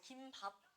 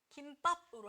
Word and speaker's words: 김밥: 된 소리 대기가 아닌게 원래는 우리가 김밥이라고 읽어야 되는게 맞거든 근데 너네 치즈 김밥이라고 읽잖아요 저도 그렇거든요 그래서 너무 많은 사람들이 얘를 김밥이라고는 거야 그래서 얘는 된소리 되게 해방하는 것은 아니지만 그냥 예외적으로 얘도 그냥 인정을 해 줄게요라고 그냥 얘기를 한 거지